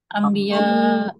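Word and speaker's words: أَنْبِيَاء: কিন্তু নুন এবং বা পরপর থাকলে এটা কি হয়ে যায়? ইদগাম হয়ে যায়। মিম। ইদগাম হয়ে এটা কিসের মতো মিম। উচ্চারণ হয়? মিম। মিম। মিমের মতো হয়ে যায়।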